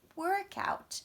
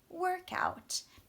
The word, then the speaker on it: workout: is actually stress on the first part because that is a thing, a noun, a compound noun. Workout or textbook is another compound noun. So when it's that compound noun, remember nouns are on the first, but verbs would be on the second.